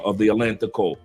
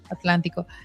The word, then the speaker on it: Atlántico: farm part of the Atlantico. El Atlántico. Atlantico. Did I say pronounce correct? Atlantico? Yeah, Atlántico.